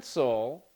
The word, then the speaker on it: cancel: canel H cancel canel I like this one can cancel is the stresses on the first syllable so because the stresses